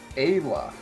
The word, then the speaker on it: Ayla: or less baggy, but it's pronounced Kayla without the K. Ayla.